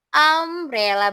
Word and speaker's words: umbrella: Karena umbrella dibacanya Abrella berarti masuk A, I, U, E, O pakai N.